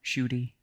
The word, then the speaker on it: Schutte: to call me shoy that's how we pronounce my last name I'm mostly going to